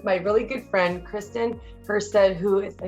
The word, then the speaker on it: Hustead: I'm here today with my really good friend, Kristen Hustead, who is, I say it right?